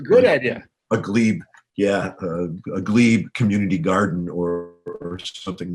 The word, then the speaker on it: glebe: Was it glebe? Is that how you say it? Yeah, glebe.